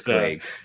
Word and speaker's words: Clague: I'm pretty sure it's Clague. Yeah, I think it's Clague. Whatever. Yeah. Well, I heard an interview and he said Clague, so we'll go with that.